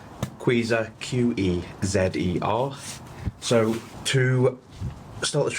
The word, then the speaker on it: QEZER: There's a few different people who say different names and how to pronounce this, but QEZER, Q-E-Z-E-R.